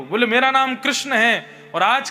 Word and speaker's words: कृष्ण: मैं अपनी कथा में कहा करता हूं, जो लोग महामंत्र गलत उच्चारण करते हैं, हरे कृष्णा कृष्णा कृष्णा हरे हरे, और जो लोग कहते हैं कृष्णा ने ऐसा किया, कृष्णा ने ऐसा किया, या भजन गाते हैं तो उसमें भी कृष्ण को कृष्णा बोलते हैं,